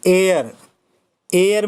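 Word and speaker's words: heir: ऐसे ही एयर means होता है उत्तराधिकारी। यहाँ पर भी एच साइलेंट है और इसके पहले एन का यूज होगा।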